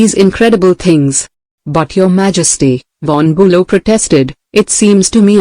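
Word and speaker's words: von Bülow: But von Bulo pronounced Fon Bulo continued in compensation I possess some historical knowledge and perhaps certain qualities useful in politics especially in diplomacy.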